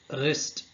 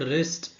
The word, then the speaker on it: wrist: For example, night wrist comb So in the first word night, K is silent. In the second word wrist W is silent.